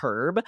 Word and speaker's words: herb: You can say herb or herb because one's correct in the UK, one's correct here.